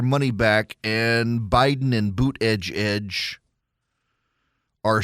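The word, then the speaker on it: Buttigieg: said is is that the way you pronounce his name is boot Edge Edge it's Budaj Pete Budaj uh but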